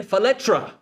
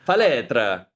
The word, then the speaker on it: Faletra: Faletra. Did I say it right? Yeah. What's up? Man, Nothing much. Good morning. Faletra. Is that how they say it? Yeah, sometimes. So Depends on the area.